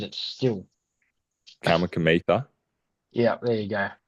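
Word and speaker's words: Kamikamica: Kamikamitha. Yeah, there you go. It's so weird because that K is silent, and I know it's silent, but I'm saying it when I'm looking at it.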